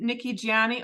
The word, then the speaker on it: Nikki Gianni: Today, I am thrilled to have Nikki Gianni. Oh, I didn't ask you how to pronounce your last name.